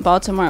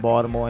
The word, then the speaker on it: Baltimore: No one's like really in Baltimore anymore. Like a lot of them. And we don't we don't pronounce the T.